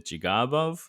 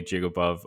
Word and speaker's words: Jigarbov: name again so uh the quote unquote correct pronunciation is jigabu um with the long ah like a pirate or you could just yeah a lot of people just call me jigabu I've heard jagabo before